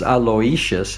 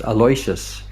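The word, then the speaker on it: Aloysius: Yeah, a lot of people think it's Aloishious and it's just Aloas is the way he told me to pronounce it.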